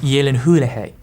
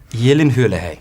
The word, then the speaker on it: Gyllenhaal: It's pronounced Gyllenhaal. Gyllenhaal.